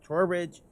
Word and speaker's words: Trowbridge: I'm with Mark Trowbridge.